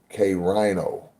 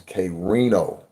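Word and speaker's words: Krino: of my name is Kino r i n o so like you see the i n o it's like it would be like if you were spelling Casino you you know or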